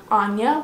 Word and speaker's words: Anja: Yes, that's how you pronounce it, Anya, but it's spelled A-N-J-A, okay?